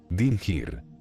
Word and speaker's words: Dingir: Esta palabra estaba compuesta por dos sílabas. Din-Gir.